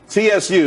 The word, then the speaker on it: tsu: tsu, TSU. It's pronounced tsu though.